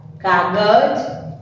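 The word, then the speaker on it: कागज़: देखो, हमने ज पर क्या किया? थोड़ा सा जोर डाला, और उसके शुद्ध बोलने के लिए हम इसका उच्चारण शुद्ध कर सकते हैं, इसीलिए हम उसके नीचे नुक्ता लगाते हैं।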